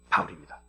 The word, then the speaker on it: 바울: 사울이라고 하는 거는 바울의 히브리어 발음이 사울이고 바울은 헬라어 발음이 바울입니다.